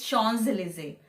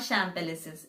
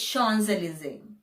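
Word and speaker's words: Champs-Élysées: it's all shawn's elizae my lips did not touch at all so it's shawn's elysee sean's eliza it's not sham palace's it's sean's eliza the next one is jewelries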